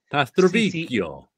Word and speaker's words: Pastrovicchio: Pastrovicchio. CCH is pronounced like a K because the H is there.